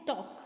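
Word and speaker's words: talk: Next है टॉक, यहाँ पे भी एल का प्रोनाउंसिएशन नहीं होता, सो आपको क्या करना है, एल के नीचे अंडरलाइन करनी है।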